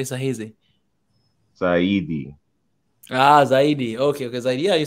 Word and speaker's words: zaidi: Saidi? There we go. Did I say that correctly? The last word, you say kusoma sahizi or sana? You say sahizi? Saidi. Zaidi.